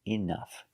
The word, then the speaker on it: enough: Next word is enough. So we see with enough, the OU makes the short sound. Enough. And the GH makes the F sound.